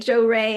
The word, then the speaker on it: Johari: I was thinking um more like a Japanese sounding like you Well, it's spelled j o h a r i, so it it could sound Japanese. Yeah, like Joe Ray and Johari.